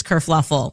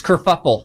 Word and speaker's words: kerfuffle: Prince Harry abdicates England, causes this whole race kerfluffle. Oh, no, it's kerfuffle. We knew a kerfluffle happened. Kerfuffle. Because this dress kerfluffle. Pronounced kerfuffle. Kerfuffle.